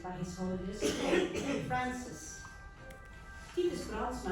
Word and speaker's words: Titus Brandsma: Titus Brandsma, I'll pronounce it the Dutch way, was born in Friesland,